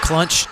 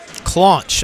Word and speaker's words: Claunch: Claunch, I think is how you say that. Claunch, not Clunch. It's spelled Claunch.